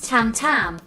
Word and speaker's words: tmtm: Su nombre artístico durante sus primeros años de batería se escribía "tmtm" y se pronunciaba TAM TAM, similar a TOM TOM en japonés, refiriéndose a los tambores TOM TOM.